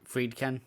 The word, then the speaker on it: Friedkin: Yeah, Friedkin.